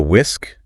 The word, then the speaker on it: whisk: And for mixing eggs, use a whisk. The h is totally silent. Whisk.